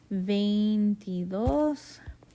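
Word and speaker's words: veintidós: it like this but it's e-i so vain like vein in your arm and then the t-e okay i'll have that accent on the last syllable so veintidos okay and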